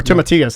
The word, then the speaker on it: tomatillos: i do like tomatoes i do too or tomatillos thank you i need somebody from texas to correct me you've got the right pronunciation so what is that it's a green